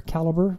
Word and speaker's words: calibre: the atrial document viewer calibre or caliber i think it's what most people how they pronounce it i had to install